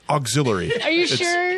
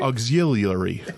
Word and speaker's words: auxiliary: gang oh it's not that's not pronounced like you're saying it's not auxilary Auxiliary like a constant yet